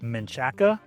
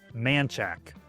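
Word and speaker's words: Manchaca: This word looks like Menchaca. We say Manchac. Now it used to be spelled, the area is spelled with an A, M-A-N. The road also used to be spelled that way. They changed it with an E.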